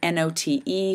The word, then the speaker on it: note: And his example was to use the word not, N-O-T, adding the single silent E to transform it and ending up with the word N-O-T-E, which is the word note, obviously two very different meanings.